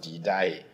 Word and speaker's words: Didache: Spelled Didache, but it's pronounced Didache.